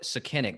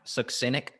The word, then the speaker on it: succinic: We know candida is a piece of it, but man, and then look at the uh I I call it senic, but I think it's actually pronounced succinic.